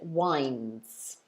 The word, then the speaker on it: winds: done sky very good we should pronounce it wines so it should be